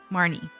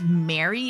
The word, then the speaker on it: Marnie: Pokemon sword shield Mar nie I was saying it wrong I don't say her name it's straight up Mary in Japanese what that's so easy